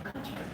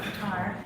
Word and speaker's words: Qatar: a soft lunch in Qatar. And some people pronounce it Qatar, but Qatar, yes, and that's what you're seeing there.